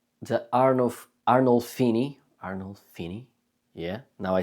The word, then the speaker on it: Arnolfini: biggest masterpieces from the 15th century, called the Arnolfini.